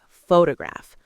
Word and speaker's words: photograph: Okay, take the word photograph. Pho-to-graph. Stress on the first syllable.